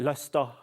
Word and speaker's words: Leicester: Le or is it Lester? Yep. Drop the Rs and don't pronounce their H's properly.